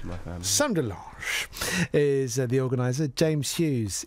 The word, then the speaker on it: de Lange: How do you say your name? Delange. But however you want. Where's that come from? It's imitation French. Okay. It's actually Dutch, but we make it sound more French in my family.